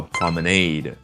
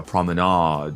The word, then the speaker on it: promenade: 江边那个步行道叫 promenade。另外一个发音叫 promenade，总之一听感觉有一